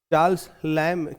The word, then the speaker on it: Charles Lamb: तो इसका उच्चारण जो है चार्ल्स लम किया कीजिएगा।